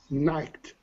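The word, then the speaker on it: knit: okay almost at night night good and you can see the spelling in the chat window in the verbling chat k n i t but the k is silent uh khaled is there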